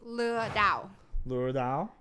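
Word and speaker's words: lừa đảo: how do you say scheme of vietnamese is lu dao lure dao um it helps somebody to not get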